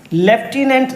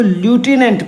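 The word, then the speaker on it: lieutenant: लेफ्टिनेंट ना पढ़ के आप इसको लूटिनेंट पढ़िए।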